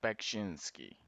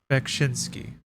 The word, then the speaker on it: Beksiński: How to pronounce? Let's see here. Gotta respect the guy. Zdzisław Beksiński. Zdzisław. Wait. Zdzisław. It's almost like an S H. Zdzisław. Zdzisław Beksiński.